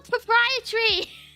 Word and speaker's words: proprietary: Okay, I was pronouncing it how it was spelled, okay, because I forgot. I forgot how you meant to say the word. Please understand. You need to find the missing syllable, yeah.